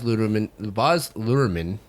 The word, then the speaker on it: Luhrmann: And on this episode, we are going to give you our take of the newly released Baz Luhrmann, right?